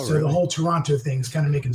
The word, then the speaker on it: Toronto: extra syllable so it's Toronto or or Toronto that's it Toronto but that are you sure you Canadians are saying the name of your city right that last T does not get pronounced just just listen whatever